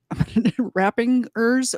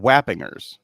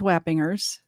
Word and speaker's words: Wappingers: an apartment complex in Rappingers Falls. I'm going to mispronounce that every time. is it New, rap? I thought it was Wappingers. maybe it's Wappingers. That's probably more correct.